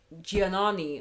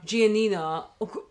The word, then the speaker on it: Giannina: seasons where you get Giannani, I always get her name wrong. Giannina, always Giannina and Damon, or whatever, going Damon, her going like, when we have sex, I don't really enjoy it.